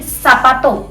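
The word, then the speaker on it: zapato: याते याते याते जेड को कैसे पढ़ेंगे स की साउंड में स की साउंड में जैसे कि सापातो सापातो सापतो मतलब शूज ओके यापे मींस याच ओके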